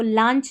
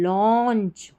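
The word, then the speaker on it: launch: silent है washed the अब इसको लांच नहीं लॉन्च विद एंटीसीपेशन एंटीिसिपेशन एंड एक्साइट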